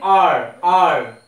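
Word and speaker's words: hour: but this is what this is h is silent so sounding r r okay so starting letter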